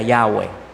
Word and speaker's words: Yahweh: el nombre de Dios es en hebreo se pronuncia Yahweh la palabra Jehová no existe en hebreo es